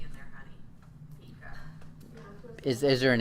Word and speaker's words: Pekah: He's slain by Pekah. However you say that. Kaya. I don't know if the P is silent or not. P-K-A-H. His captain. You missed an E in there, honey. Pika.